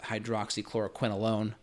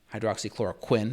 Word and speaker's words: hydroxychloroquine: which is the 200 I think I pronounced that Hydra clora quinolone hydroxychloroquine excuse me 200 milligrams twice a